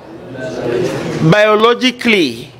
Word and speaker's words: biologically: Biologically, A is silent.